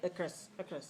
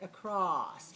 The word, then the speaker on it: across: is this clear vowel we can't say the chris of course that does not that is not a good pronunciation we have to say across so the ah has to be a clear sound now the other thing